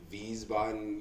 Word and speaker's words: Wiesbaden: I am from Wiesbaden, Germany. Hell yeah. Yeah, Wiesbaden. You say it with a V, but it's spelled with a W.